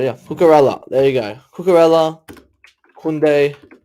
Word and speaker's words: Cucurella: I don't know how to pronounce them. I don't know how to spell names. It's hard. Oh, it's right. Yeah, Cucurella.